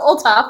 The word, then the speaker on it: Olthoff: our guest, Miss Olaf, I should have asked how to pronounce that, but uh could you introduce yourself and say how to say your name? Hi, I'm Olaf. We ignore the H.